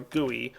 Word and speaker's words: GUI: interface or graphical user interface or G or goey which is a proper pronunciation those of you who haven't watched D videos know that some people uh don't like the word guey though it's a proper pronunciation yes GUI is